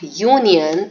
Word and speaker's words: union: and I Oh N the spelling is having vowel at the first letter but the sound of Union is again a consonant you sound and that is why